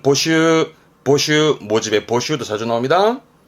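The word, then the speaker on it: 募集: 될 것 같습니다 잘 나옵니다 모자 했서 예 발음은 보슈 보슈 모집에 보쉬도 자주 나옵니다 뭘까요 그렇죠 비밀의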